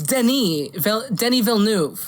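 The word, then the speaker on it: Denis Villeneuve: slate despite legendary and dennis how do i pronounce this good luck dennis vil we knew it let me look this up yeah something like that oh it's denis denny villeneuve i know i'm stupid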